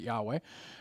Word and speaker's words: Yahweh: capital letters It's the tetragrammatin but it you'd pronounce it Yahweh and that's just God's personal name but the